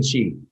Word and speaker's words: qigong: what is that word q-i-g-o-n-g you know no chi means energy so it really is a word